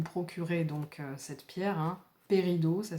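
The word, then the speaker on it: péridot: vous pouvez vous procurer donc cette pierre, hein, Pérido, ça s'écrit P-E-R-I-D-O-T.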